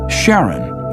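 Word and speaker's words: Charon: Christy suggested the name Karen after the fairerryyman of Pluto's underworld in Greek mythology, but preferred to pronounce it Sharon, more like his wife's name, Charlene.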